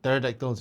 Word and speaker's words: pterodactyls: these what pterodactyls you say? Pterodactyls. Pterodactyls, whichever. The P is silent.